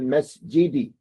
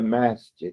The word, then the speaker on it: مسجد: It's not the masjid, it's the masjid. Americans say masjid like they're from Texas. Okay? It's not the masjid. Masjid. It's masjid.